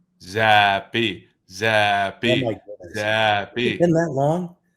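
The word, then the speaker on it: Zappe: Two syllables. Zappy.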